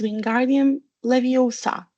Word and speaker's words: Wingardium Leviosa: It's Wingardium Leviosa. Make the gar nice and long.